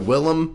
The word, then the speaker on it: William: that he wants to go Willam will I'm not doing that your name is William to me buddy sorry well if you spell it William you're a William but that was My